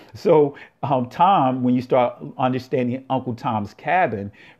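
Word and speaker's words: תם: The word Tom is like a major insult, but when you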